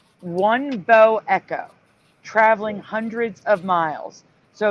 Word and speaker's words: bow echo: Wouldn't that be This- pronounced bow echo, like the bow of a ship, rather than bow? I don't know. That's how the news pronounces it. That's why I pronounce it that way.